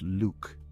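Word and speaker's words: Lugh: keep in mind that lug is sometimes pronounced Luke as in the Luck of the Irish I told you these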